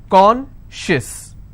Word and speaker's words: conscious: not apply here okay conscious how many syllables do i have two and i will stress on corn con schis okay precious how many syllables